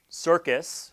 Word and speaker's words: CRCS: And it was through CIRCUS, that's CRCS is how it's pronounced for short, through CIRCUS is how I personally got interested and became aware of research on data privacy.